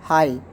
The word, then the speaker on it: high: For example, high.